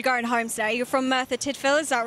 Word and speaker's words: Merthyr Tydfil: You're from Merthyr Tydfil, is that right? That's excellently pronounced.